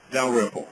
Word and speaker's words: Dalrymple: Dalrymple. Let me respell it.